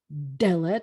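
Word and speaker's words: דלת: And then we have the word for door, which is Dalet. It's an es, so the accent's on the first syllable, and it does have a digation, the Dalet, because it's the beginning of a word.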